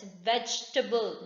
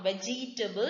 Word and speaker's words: vegetable: Here E comes after G, so E is silent. It's vegetable, not vegetable. It is vegetable.